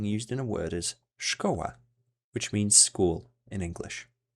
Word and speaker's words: szkoła: It is pronounced as sh, and an example of this digraph being used in a word is szkoła, which means school in English.